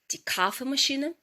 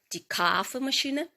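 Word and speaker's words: Kaffeemaschine: Орфографічний словник німецької мови Дуден подає два варіанти вимови даного слова. Перший кафе машина. Тіка машины. Зверніть увагу, кава. Кафе машине. І другий варіант кафе машине.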